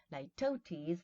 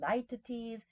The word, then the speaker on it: litotes: Litotes, the different ways of stressing this well. Some people say litotes, litotes, and litotes. All of them are possible.